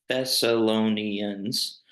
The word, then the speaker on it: Thessalonians: Thessalonians.